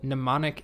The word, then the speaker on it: mnemonic: about are something called mnemonic seeds the m is silent and what this does